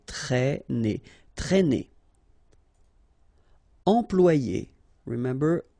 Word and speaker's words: traîner: Okay, accent circumflex here, so you should write it, but then keep in mind that you don't pronounce it, so it doesn't change the pronunciation of this combination of two letters, A and E together, it's E, okay, traîner.